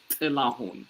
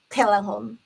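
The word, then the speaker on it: ጥላሁን: So that's how it's pronounced in Amharic or in Ethiopian language, Tilahun, right? But go. Telahun. Too much pause between the t and the lahun. It has to just Tilahun, one word.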